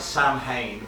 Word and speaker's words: Samhain: It's spelt Sam Hain, but pronounced Samhain, the Irish holiday.